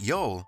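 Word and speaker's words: jól: the viking yule feast yule sometimes spelled j-o-l and pronounced yol was the period between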